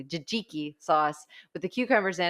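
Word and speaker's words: tzatziki: or kale chips or the jajiki I learned how to pronounce that more correctly jijiki sauce with the cucumbers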